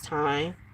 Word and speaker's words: thyme: Thyme is time. I said thyme like it's spelled, but it's called time.